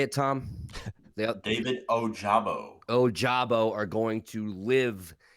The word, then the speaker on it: Ojabo: David Ojabo.